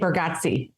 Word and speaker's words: Bargatze: And then probably Jason Bateman and probably Nate Bargatze. How do you pronounce his last name?